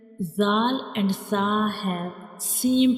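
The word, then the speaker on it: ث: So these two letters zal and sa have same pronunciation but have different sounds and different shapes.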